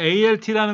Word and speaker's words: Alt: 그 다음에 ALT라는 것도 있어요. ALT. 그건 Alt라고 읽어요.